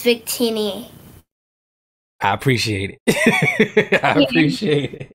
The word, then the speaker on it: Victini: correct and also for uh lucia it's actually pronounced lugia and for victina it's victini i appreciate it i appreciate it i'm just